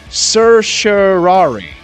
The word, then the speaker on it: certiorari: Another listener texted in this morning and said, certiorari. That's how it's pronounced. Certiorari.